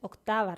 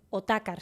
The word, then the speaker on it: Otakar: No es Octavar Segundo, es Otakar Segundo.